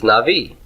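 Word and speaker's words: נביא: syllables for a minute where's the tone on Navi is it on naught or V V the the na must be pre tonic right is the NA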